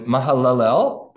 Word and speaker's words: Mahalalel: the father of Jared mahalalel lived after the birth of Jared 830 years and had other Sons and Daughters thus all the days of Mahal alel that was a better way to pronounce it were 895 years and